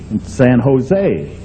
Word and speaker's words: San Jose: he said stupid California you don't pronounce a j San Jose well I said I'm